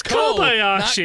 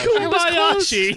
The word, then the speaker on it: Kobayashi: Gosh, she- Is his name not Kobayashi? It's Kobayashi. Not Ku. He said Kubayashi.